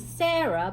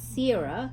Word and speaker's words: Sera: actually, it's Sarah, but it's spelled S-E-R-A. Yes. So it's Sarah.